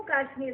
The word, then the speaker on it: काश्मीर: कश्मीर कहेंगे ये जम्मू कश्मीर राज्य है कभी भी बातचीत में भी केवल काश्मीर शब्द का प्रयोग मत कर इसका सही उच्चारण है जम्मू काश्मीर मित्रों जम्मू कश्मीर को